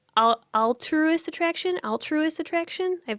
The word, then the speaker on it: alterous: Alter, like to change something.